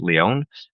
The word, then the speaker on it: Lion: look up and my last name is spelled like Lion l i o n uh even though it's pronounced Leon and so just look